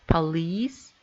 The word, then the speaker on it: police: In words of French origin, the stress always appears on the final syllable, like police, machine.